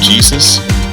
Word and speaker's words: Jesus: The main pilot Jesus. The Jay is silent is seduced by a nun in training who gives everyone drugs and flashes.